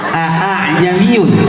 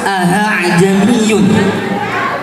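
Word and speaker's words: أَأَعْجَمِيٌّ: Ada lafaz lagi itu yang garib itu sebenarnya lafaznya a a'jamiyun tapi dibacanya harus ahajamiyun.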